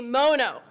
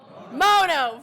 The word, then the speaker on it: Mono: work in this building aren't sure how you pronounce our county's name. So it is, say it with me, Mono. Mono, very good.